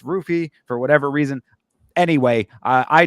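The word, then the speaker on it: Ruffy: me this is Mauricio hoofy versus King Green it's actually Mauricio rufy I keep doing the the the uhh Portuguese pronunciation but he pronounces it with the r and it's not even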